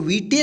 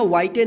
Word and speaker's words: white: ठीक है, WHITE, इसको क्या पढ़ेंगे? वाइट। इसको वीटे नहीं पढ़ेंगे या वाइटे नहीं पढ़ेंगे।